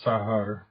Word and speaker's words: sagar: But the actual pronunciation is a fricative, or even a very weak continuant, as in the word sagar, meaning old, which is sahar in northern Basque.